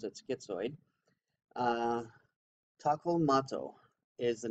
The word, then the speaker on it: Skizoid: But this is the Skizoid, and I say Skizoid because it's not spelled the way that the English would and pronounce it schizoid.